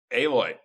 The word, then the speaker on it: Aloy: It was a picture of Alloy or whatever. Aloy. Thank you. I haven't played it, so I didn't know. It's spelled like Alloy.